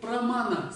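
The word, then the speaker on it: प्रमाण: Теперь есть такое слово, на санскрите есть такое индийское слово прамана. Слышали кто-нибудь? Прамана. То есть тибетцы произносят пра в таком написании, как ча. Из-за этого в Тибете очень долго говорили тамана, тамана вартика, да, так было.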